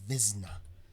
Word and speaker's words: Wizna: I think I said Windsor when it was Wiznner and now I guess it's pronounced Vizna. The W gets a V sound.